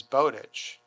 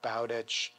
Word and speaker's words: Bowditch: initially but to me he was always bodic because I was thinking you know bodic bodic like Bowden or bowdenham or whatever and subsequently everybody that I've met who actually has that last name pronounces it typically like bich or bich and I say to